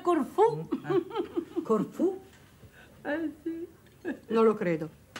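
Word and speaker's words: Corfù: Il mio è a Corfu. Signora Doway. Perdonate, signora Haggerty, ma credo che si debba pronunciare Corfu.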